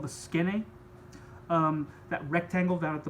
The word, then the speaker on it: skene: The Greek word skene, that's how you pronounce that.